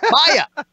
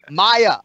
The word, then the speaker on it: Maia: knocking your balls, but two fucking syllables, Maia, Maia, he's Maia.